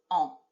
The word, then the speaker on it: on: way I'm saying it, I don't say on, do I? It's like the N is sitting in the back of my throat, on. Okay, so we don't really pronounce that N in a very hard way.